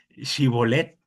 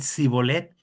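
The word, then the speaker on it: שיבולת: Pero aquí con ellos, hermano, no podían pronunciar shibolet, sino que sean cibolet y eso les causaba la la la misma vida, ¿no?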